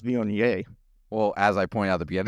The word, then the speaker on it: Viognier: Pronounced Viognier.